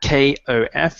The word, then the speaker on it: cough: difficult word in English so that kof is the pronunciation I have got a